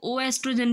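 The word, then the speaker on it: oestrogen: एस्ट्रोजन जो hormone है इसको ओ एस्ट्रोजन भी बोल सकते हैं और एस्ट्रोजन भी बोल सकते हैं। स्पेलिंग में भी इसी तरह से डिफरेंस आ सकता है। एस्ट्रोजन भी ठीक है, ओ एस्ट्रोजन भी ठीक है, ठीक है।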